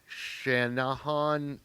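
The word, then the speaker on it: Channahon: This case 41616 out of Shannahan, Illinois, if I'm pronouncing that anywhere near correctly.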